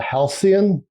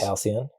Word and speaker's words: Halcyon: This is they call it the Halcyon. You think I'm saying that right? Is it pronounced like the word, or I don't know if they have a special bespoke pronunciation?